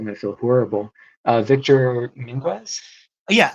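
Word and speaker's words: Adame Mínguez: Victor Minguez? Yeah, Adame Minguez.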